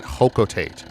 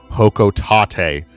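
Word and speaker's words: Hocotate: characters, and in that she pronounced it Hokotate. Did you know that Pikmin are named after Pick carrots, a vegetable native to Hokotate? The reason that I don't want to really pronounce Hokotate is because the company that Olimar works for, and you'll learn in Pikmin 2, he works for a company called Hokotate Freight. And I think it's Hokotate.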